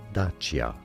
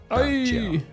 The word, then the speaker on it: Dacia: So in Romanian, it is said as Dacia. Dacia.